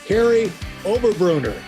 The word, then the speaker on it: Kary Oberbrunner: I'm talking with Kary Oberbrunner. Did I pronounce that right, Kary?